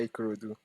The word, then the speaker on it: Ikorodu: I don't know the correct pronunciation. I think Ikorodu. Yeah, Ikorodu.